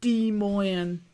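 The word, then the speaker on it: Des Moines: I'll never forget the name of that place, that's for sure, or how to pronounce it. Demoan, that's how it says it in slipping off from.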